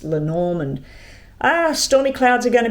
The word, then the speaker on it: Lenormand: We'll start with the Lenormand or Lenormand. I'm just looking at the way it's spelt on the book and it's Lenormand.